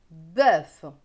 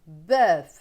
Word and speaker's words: bœuf: Donc, bœuf. Vous voyez, le O-E-U se prononce E dans ma région. Pour d'autres, ce sera bœuf. Voilà, ça dépend des régions.